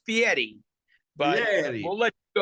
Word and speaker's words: Fieri: 2006, Chef Guy Fieri won Food Network's Next Food Network Star and was awarded his own series, Guy's Big Bite.